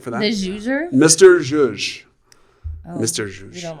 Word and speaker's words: zhuzh: Jous? No, it's ZH. ZHUZH. I'm thinking about Jew. Zhush. It's a Yiddish word, Jewish word.